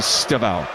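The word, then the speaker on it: Estêvão: They tell me that the way you he would pronounce his name would be Staval.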